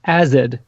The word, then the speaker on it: AZD: Pronounced acid, apparently, Acid? or like acid. It's it's a play on acid.